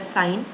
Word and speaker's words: sin: for sine its sin which is pronounced as sine for cosine x cos